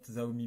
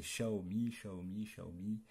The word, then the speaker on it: Xiaomi: Et aussi, on m'a dit de dire, c'est Xiaomi. Mais moi, je vais dire Xiaomi, ça s'écrit avec un X.